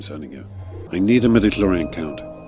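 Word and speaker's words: midichlorian: And it's pronounced metaclloran. I need an analysis of this blood symbol I'm sending you. I need a medicloran count.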